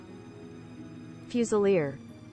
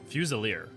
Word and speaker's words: Fusilier: I just realized that I don't think I've ever actually checked how to pronounce that. I want to make sure I'm getting. Fusilier. Fusilier.